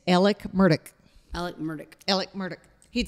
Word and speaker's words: Murdaugh: is not pronounced Alex murdaugh it's Alec murdick Alec murdick Alec murdick he'd say well I'm Alec murder and it's murdick not Murdoch Murdock well it's like murder